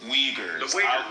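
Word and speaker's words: Uyghurs: This basic weaguers weaguers. Don't say weagers.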